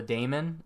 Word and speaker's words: daemon: Now we want to onboard and install the daemon. I think that's how you pronounce it. It's not demon, because that's spelled differently, but the daemon, that's basically the process that runs 24/7 in the background.